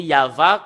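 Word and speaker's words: יהוה: fait de le lire selon la Sainte Écriture hébreu c'est yava qu'on le prononce et vous pouvez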